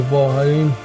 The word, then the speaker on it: Vholran: pretty much going to be the path to vol but that's how you pronounce his name and um we are going